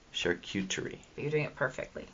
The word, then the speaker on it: charcuterie: Am I saying charcuterie right? I can't spell it. The key to saying it is, it's my, and then it's the word cute, My Charcuterie. Charcuterie.